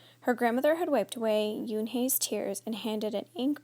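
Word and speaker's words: Unhei: correct it it's spelled u n HEI it's pronounced Yun oh it's U the boy said like you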